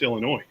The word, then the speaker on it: Illinois: The S is silent. It's Illinois.